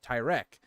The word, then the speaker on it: Tyrek: It's the first video I made on Tyrick Lannister, as he's pronounced on this channel, Tyreek Lannister. And somebody was like, yeah, you know, the pronunciation is actually Tyrek. And I'm sitting here and I'm like, I appreciate that you took the time to comment that, but on this community and this channel, Tyreek, if you can't handle that, it's time to go.